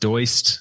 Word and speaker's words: Doist: So the company is Doist, Doist, often pronounced Doist, but it is Doist.